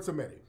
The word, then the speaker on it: Samedi: I think I mispronounced it. It's the Baron Samedi.